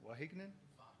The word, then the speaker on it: Wageningen: He has an MSc in Management of Agricultural Knowledge Systems from how do I pronounce it? Wageningen?